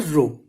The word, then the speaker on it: rho: It is also known as the rho. RHO. Okay, this is the pronunciation of the rho.